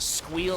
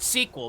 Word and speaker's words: Squeal: They'll be playing in our 4th best of 3 up against Squeal Team 6. Not sequel, because I apparently read that name wrong like 4 or 5 times.